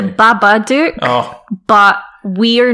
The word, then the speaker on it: Babadook: that we actually know it's not called the bad addict yes it's the babadook oh but we are